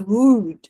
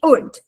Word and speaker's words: wood: Wood. Aqui a gente tem wood. Ele é seco, tá vendo? como se fosse um corte seco tramontina, né?